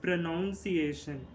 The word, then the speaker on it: pronunciation: would like to say the right pronunciation of the word PRONUNCIATION, because generally we call it as pronunciation, because we may get confused with the word PRONOUNC, that is called as pronounce. Okay, because NOUN is present there, but in case of pronunciation you may notice the spelling in that NOUN is not present, instead NUN is present. So that is why it is called as pronunciation, not pronunciation.